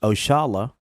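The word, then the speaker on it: Oxalá: Oxala, pronounced Oshala, a commonly used term, is a direct descendant of a term we Muslims commonly use, Insha'Allah, means God willing.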